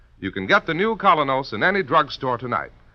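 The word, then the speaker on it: Kolynos: is start cleaning your teeth with the new Colinos, a high polishing toothpaste.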